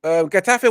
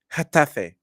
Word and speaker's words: Getafe: I want to pronounce it right. Getafe. CF. Likewise, I think it's a Sanji. Getafe. Getafe. Like you're sneezing.